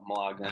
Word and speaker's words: Malagna: Calling on You can get me on Twitter, Malagna25, so it's like Maloney, but it's spelled baloney, like Malagna.